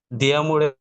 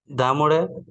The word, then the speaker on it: d'amore: poesie poesie হুম, diamore diamore দিয়া মরে না, দা মরে হবে। d'amore diamore pi de pi স্যার এটা একটু কয়ে দিন।